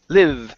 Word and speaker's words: live: okay so right here instead of Le leave with an e sound it's a short I li live a place to live